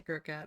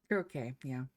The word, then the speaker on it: croquet: I did say a croquette. I see it now. Croquet, yeah.